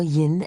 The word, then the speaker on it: yin: You know, yin and yang is how the west would say it, but in and yang is how it's said in the east.